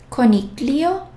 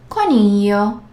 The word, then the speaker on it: coniglio: And G plus L. GL. Here, we don't sound and we don't pronounce G as we are used to, like G or J. It's almost silent. Well, it's not even silent. G plus L has a very different pronunciation.